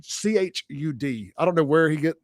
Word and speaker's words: Chud: How do you say his name? Chud.